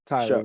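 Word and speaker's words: Shough: Shuck.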